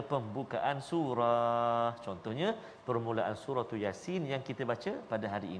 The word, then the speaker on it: Yasin: Jangan ya tu panjang. Yasin. Salah. Ya tu 2 harakat saja. Jangan 2 rakaat. Yasin.